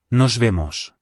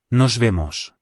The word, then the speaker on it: Nos vemos: A popular alternative to goodbye is see you, which is Nos vemos. Let's hear it again. Nos vemos. Remember the letter V is pronounced like a B, so this is nos vimos.